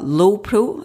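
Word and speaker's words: Lowepro: bought myself um a low Pro I think that's how you pronounce it l-o-w-e-p-r-o backpack I have to say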